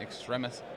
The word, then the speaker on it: Extremis: Like if people say extremist, whatever.